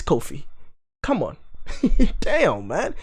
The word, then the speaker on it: Qofy: hey there hey my name is not it's coffee it's it's f4 it's a four letter word it's a four-letter word please just just just a four-letter word a two-syllable name don't make it one it's not one it's